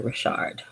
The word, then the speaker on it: Richard: I say Richard cuz it it it it's spelled Richard, right? But everybody else calls her Rashard.